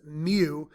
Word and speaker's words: mu: It's a Greek letter pronounced mu, but the symbol is kind of like a U with a long tail in the front.